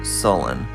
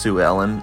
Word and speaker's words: Sue Ellen: the previous video i mistakenly was calling her sullen but it's actually pronounced sue ellen i'm not sure how